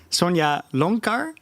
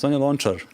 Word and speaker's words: Sonja Lončar: the pianist, I'm very sorry if I don't pronounce it correctly, Sonja Lonkar, Yes, Sonja Lončar.